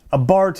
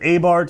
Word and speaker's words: Abarth: some people say it a Bartz some people say it a Bart other people say Abarth or a Barth I think that's more of a u.s. pronunciation we do the th so anyway guys this